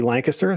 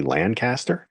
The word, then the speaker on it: Lancaster: No one in Ohio knows how to say Lancaster. They all say Lancaster. So it's nice to be able to talk to somebody who can pronounce the word properly.